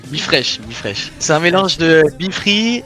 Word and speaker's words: BeFreesh: Avec moi sur X, donc c'est Bifrosh Crypto, donc je le prononce bien Bifresh. Ouais, Bifresh.